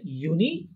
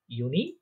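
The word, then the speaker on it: Juni: তারপরে দেখেন জুন July, এই দুইটা উচ্চারণ হবে ইউনি ইউলি। ইউনি ইউলি।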